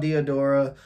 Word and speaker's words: Diadora: um yeah trying to find out is called Theodora uh buddy of mine actually invested in this